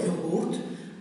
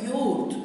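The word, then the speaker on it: yoğurt: Βλέπετε, δεν το προφέρω έντονα, δεν λέω γιούρτ, αλλά λέω γιούρτ, σαν να μην υπάρχει.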